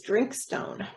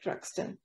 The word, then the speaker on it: Drinkstone: We would read that word as Drinkstone, but I believe they pronounce it something like Druxton.